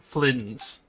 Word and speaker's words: Flins: So that's how you pronounce that. Kirill Chudamirovich Flins.